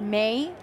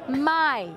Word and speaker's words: Mae: So sometimes you guys might think that because it's spelled M A E, it's pronounced May. But no. Wait a minute. No, Barca deal with the situation perfectly. It's pronounced my. Where is this? Just say like my friend, my cat, my dog, my sister, my. But it's spelled like this, pronounced like this.